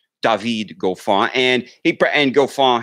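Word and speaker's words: David Goffin: de Vigo fall just the new correct way to pronounce it dahveed go far and ypres and go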